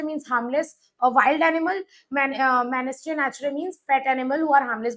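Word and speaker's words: mesne: men or mean profit the S is silent here what do you mean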